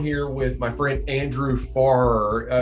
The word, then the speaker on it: Farrer: with my friend andrew farr pronounced not like nearer but far far okay that's i mean